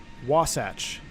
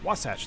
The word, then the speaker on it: Wasatch: you off reset this it's pronounced Wasatch oh like satchel ah Wasatch thank you it's unrealistic